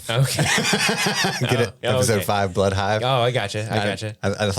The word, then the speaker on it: Blood Hive: time it's episode five bloodhive which rhymes with five okay episode five blood hives oh I gotcha I